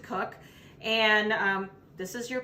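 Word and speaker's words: Koch: cook or i'm k cook is spelled k-o-c-h um we pronounce it cook and um this is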